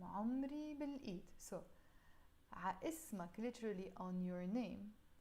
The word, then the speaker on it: عمري: عمري, again in Lebanese we will pronounce it more عمري. I keep saying in Lebanese, but it's a Lebanese song, but sometimes in songs we pronounce words a bit differently than how we pronounce them in real life. So instead of saying عمري, we say عمري in Lebanese with the I sound in the end.